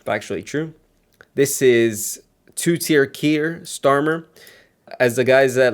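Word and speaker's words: Keir: This is two-tier Kier Starmer. As the guys at Lotus Theater pointed out, the fact that his name is Kier, he has a lot of things that rhymes that his name rhymes with, and you can make funny names for him.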